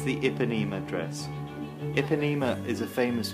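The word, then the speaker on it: Ipanema: this stunning dress the epinema i think it's pronounced iponema i could be wrong but i think it's the iponema dress iponema is a famous beach i hope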